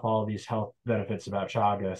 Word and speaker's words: chaga: cancer what's that Bella it's spelled c-h-a-g-a yeah thanks c h n g a it's a Russian word Shaga um and some people call it chega some people call it chaga I call it chaga